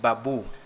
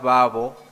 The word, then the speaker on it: Babo: It's not Babu. It is Mr. Babo.